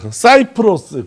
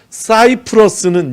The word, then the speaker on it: 사이프러스: 키프로스, 사이프러스, 구브로 이런 게 진짜 어려워요. 성지순례 가이드 하면 제일 힘든 게 이런 겁니다. 키프로스는 헬라어 발음이에요. 사이프러스는 영어 발음입니다.